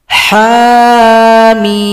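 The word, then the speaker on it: حم: Cara bacanya harus diurai. Ha dua ketukan, mim enam ketukan. Ha mim.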